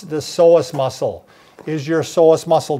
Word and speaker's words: psoas: What is the psoas? Right. The psoas is one of those, it's like Psoas because it's spelled wrong. It's spelled with a P. P-S-O, yeah. It's like pus psychology.